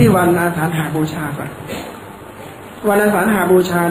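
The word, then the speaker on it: อาสาฬหบูชา: นั้น 1 วัน สวน อาสาหบูชา จะ อ่าน ว่า อาสาหบูชา ก็ ได้ นะ อ่าน ได้ ทั้ง 2 เรา จะ เข้า ใจ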